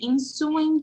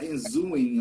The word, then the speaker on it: ensuing: ensuing chaos chaos yes you see you mispronounce it i i heard something like in zooming or something like yeah but it comes from the verb so i had the prefix and then i had the ing and suing chaos okay